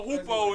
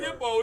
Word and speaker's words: hoopoe: Hey, somebody Google that shit and tell me what the fuck a hoopoe is. It ain't say hippo, it say hoopoe.